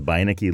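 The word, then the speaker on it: Beinecke: into the voyage manuscript also check out the biniki libraries website that's Yale University's rare books and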